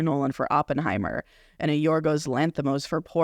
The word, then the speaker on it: Yorgos Lanthimos: Poor Things director, I can't pronounce his name, so how do you pronounce this? Yorgos Lanthimos?